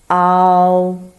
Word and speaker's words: ao: You first pronounce ah, then bring the tip of your tongue a little bit back and bring the end of your tongue up. Make your mouth O shape. Then slide to the voice of O. So let's say ao. So the pronounce is similar to mouth.